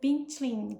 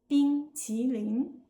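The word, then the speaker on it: 冰淇淋: Now, pronunciation. This is where Cena's efforts really shines, and where the famous "bing qi ling" comes from.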